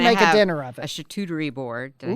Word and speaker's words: charcuterie: so you can make a dinner up a charcuterie board did I say it right that sounded